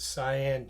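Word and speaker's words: Xi'an: Um, yeah, he was stationed in a place called, you pronounce it Sian, China, at least towards the end of his service in World War II.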